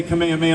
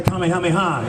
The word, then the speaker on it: kamehameha: saying it wrong and i want to say it like it's intended in japanese right so i'm kind